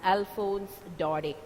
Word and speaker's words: Alphonse Daudet: here the French writer Alphonse Daudet the last sound is not pronounced he's planning the name is I mean you have to pronounce this word as Alphonse Daudet he's the French novelist